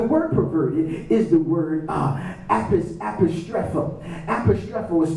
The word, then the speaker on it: apostrepho: The word perverted is the word apostrepho. Apostrepho is spelled A-P-O-S-T-R-E-P-H-O.